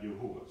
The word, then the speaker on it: Yahuwah: And we have Yahuwah. So this could be the name of the Father. In the ancient Hebrew, this is the pronunciation, actually.